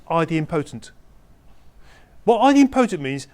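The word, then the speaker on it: idempotent: over and over again there's a terminology called ID imp poent that's how it's pronounced now anyone being on forums where the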